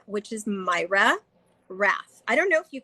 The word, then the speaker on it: Mayra Rath: it's actually under my personal name which is myra raph i don't know if you can type in or um my name is spelled m a y r a and then